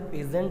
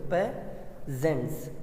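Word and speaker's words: peasants: जैसे कि इसको आप प्रोनाउंस कैसे करते हो, पेजेंट्स, ये प्रोनाउंसिएशन ऐसा होता है, PEHAZNTS, पेजेंट्स। लेकिन बहुत लोग इसको पीजेंट भी कहते हैं। अब ऐसी विश, आपको जो अच्छा लगे आप वो बोलिए, सब चलता है, ओके।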